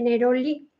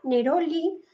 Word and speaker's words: neroli: este caso el de neroli que se puede pronunciar como llana neroli y como neroli como aguda no Y la Real Academia